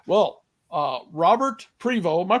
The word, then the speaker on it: Prevo: so excellent excellent all right well uh Robert privo am I pronouncing that properly you are okay uh author